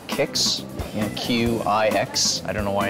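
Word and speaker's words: Qix: Dig actually works similar to an old school game called Kix, Q-I-X. I don't know why it's pronounced Kix.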